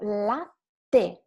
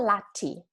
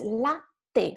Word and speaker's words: latte: So latte, not latte, right? It's latte.